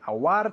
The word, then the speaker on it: award: Award se escribe, pero se pronuncia award.